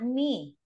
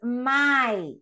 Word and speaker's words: my: Some of you still mispronounce this word, and this word is not me, like my name is. No, it's my, okay?